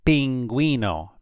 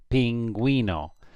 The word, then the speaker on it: pingüino: What do you do with a U with 2 dots? You always pronounce the U. So this would be pingüino, pingüino.